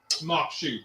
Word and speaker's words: maque choux: moo but it is not spelled anything like M Shu but that's how it's pronounced m a q u e yeah so